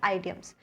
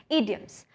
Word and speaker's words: idioms: अब बहुत से स्टूडेंट्स ईडियम्स को प्रोनाउंस करते हैं एज आइडियम्स। तो बेटा मैं एक चीज़ क्लियर कर दूं, इसकी प्रोनाउंसिएशन आइडियम्स नहीं है। अगर आइडियम्स बोलते हो तो करेक्ट कर लो अपने आप को, करेक्ट प्रोनाउंसिएशन इज ईडियम्स।